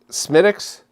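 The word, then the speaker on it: Smithwick's: Cloud, this is Smithix. I don't know why they call it Smithix. It's spelled Smithwix.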